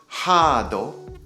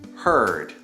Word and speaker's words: heard: hear heard heard so pay attention to the pronunciation of heard try not to say haado hado try to say heard heard heard i heard a really good song